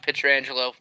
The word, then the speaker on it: Pietrangelo: It's pronounced Pietrangelo.